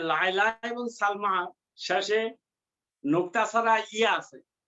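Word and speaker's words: سلمى: এই যে লায়লা এবং সালমা শেষে নোক্তা ছাড়া ইয়া আছে এটাকে বলে আলিফ মাকসুরা এটা উচ্চারণ ইয়ার মতো উচ্চারণ হয় না আলিফের মতো উচ্চারণ হয় যেমন লায়লা সালমা ইয়া সালমা আফি ফাসলি কি তলিবাতুন মিনাসিনি ওয়াল ইয়াবানি।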